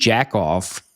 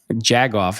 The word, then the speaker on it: jagoff: He used jackoff jagoff, excuse me.